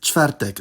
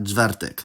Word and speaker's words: czwartek: However, there are two exceptions; the [v] sound and the [ʐ] sound (when spelled rz) can’t control cluster voicing, and will get overridden if there are voiceless obstruents before them in clusters. For example, the word for “chair” is krzesło, not , and the word for “Thursday” is czwartek, not .